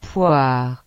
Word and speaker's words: poire: Las letras O y se pronuncia como OA. Por ejemplo, el fruto, poire, que significa pera.